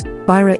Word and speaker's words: byrå: Byrå equals office, the Y is pronounced like a U, brochure equals brochure, costume equals costume, apropos equals about.